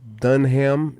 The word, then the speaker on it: Dunham: Dunham. Is that how you pronounce your name? Dunham? Oh, no, it's Dunham.